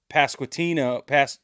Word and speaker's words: Pasquantino: The Royals, they dropped Pasquantino.